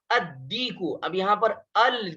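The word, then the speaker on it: الديك: यहाँ पर भी देखिए अद्दीकु, यहाँ पर देखिए अलिफ लाम के बाद दाल आ रहा है और ये दाल हरूफ शमसी में से है, इसलिए यहाँ पर लाम को साइलेंट करेंगे और जो हरूफ शमसी है उसके ऊपर तशदीद लगाकर इसको पढ़ेंगे। ठीक है, उस पर तशदीद लगाकर पढ़ेंगे। तो क्या हो गया, अद्दीकु।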